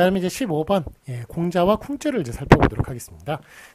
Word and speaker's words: 공자: 그래서 공자라고 쓰는 게 많고요. 쿵즈라고 쓰는 것이 아니라.